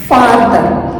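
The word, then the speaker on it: father: उतनी क्लियर हो जाएंगी फदर नॉट फदर काफी सारे लोगों को मैंने देखा है फदर प्रोनाउंस करते हैं इसे फदर नहीं है ये फादर है तो फादर फादर किससे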